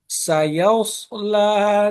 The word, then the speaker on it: سيصلى: আপনি সাদটার উচ্চারণ আরেকটু এমফাসাইজ করতে হবে, যেমন সায়াস, সায়াসলা নারন, সায়াসলা নারন, এইভাবে।